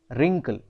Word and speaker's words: wrinkle: इसकी स्पेलिंग है WRINKLE, बट हम इसको पढ़ते हैं रिंकल।